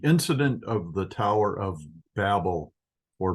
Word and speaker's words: Babel: We're going to learn about one revolutionary thing that occurred during the incident of the Tower of Babel, or Babel. It's Bavel in Hebrew. The middle B is pronounced as a V.